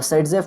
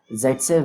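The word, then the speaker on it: Saytzeff: अब सेडजेफ को कुछ लोग जेडसेफ भी कहते हैं, क्यों ऐसा, क्योंकि सिंपल दोनों का नाम प्रोनाउंस करो, देखो टंग का मूवमेंट सेम होगा, सेडजेफ बोलो या फिर जेडसेफ बोलो, टंग का मूवमेंट एक जैसा ही होगा मेरे भाई।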